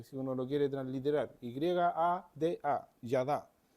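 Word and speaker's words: ידע: conocimiento o para conocer es la palabra yad yada así se pronuncia o así se por lo menos así se escribe si uno lo quiere transliterar y a d a yada Y esa palabra se traduce como conocer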